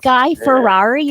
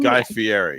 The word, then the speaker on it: Guy Fieri: Guy Ferrari or Guy- someone? Guy Fieri. Guy Fieri. I Yeah. never know how to pronounce his name.